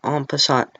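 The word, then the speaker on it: en passant: is that there's something called on passat it's at the top of the screen that's how you say it and ompassant is when the opponent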